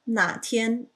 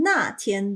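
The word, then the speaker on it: 哪天: So notice that 哪 is a third tone, and that is very important because if you say it with a fourth tone, 那天, then you're referring to a specific day.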